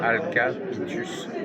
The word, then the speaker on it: Alcabitus: Ah je connais pas cette c'est une domification qui pour moi et ça s'écrit comment je vous comme ça se prononce Alcapitus.